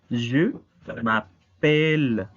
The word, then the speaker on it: je m'appelle: Una regla de la fonética francesa es que si la E no tiene acento, pero adelante de la E vienen dos consonantes iguales, esta E se vuelve tónica. Por eso decimos je m'appelle.